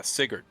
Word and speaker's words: Sigurd: pronounced it and we listened. Yeah, Sigurd.